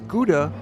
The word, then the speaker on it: Gouda: Notice the pronunciation: English speakers would normally call the cheese Gouda and call the city Alkmaar but the Dutch would say, “Howda” cheese and the city is Alkmaar — either way is okay.